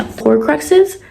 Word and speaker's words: Horcruxes: Horcruxes.